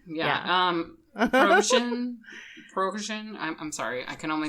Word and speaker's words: Prigozhin: Prigozhin. I'm sorry. I can only do pierogies, okay? But it's spelled Yevgeny, first name.